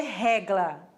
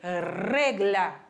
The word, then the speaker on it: regla: Não vai ser regla, vai ser regla. Regla. Sempre vibrando o R.